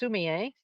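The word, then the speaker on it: sumi-e: So that's Sumi dash E. It's pronounced Sumie.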